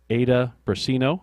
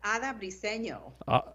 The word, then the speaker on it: Ada Briseño: of Unite Here 11, Ada Brasino. Did I pronounce that right, Ada? Hopefully we've connected you digitally here in the right way. Are you there? I am. Yes, it's Ada Briseño.